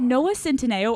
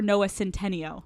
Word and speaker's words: Centineo: Is it Noah Centineo or Noah Centeneo? Noah Centineo. I have always said it right, but to all of our bitches on Instagram saying Noah Centeneo, it's Noah Centineo.